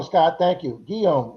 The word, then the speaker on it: Guillaume: Guillaume rhymes with home.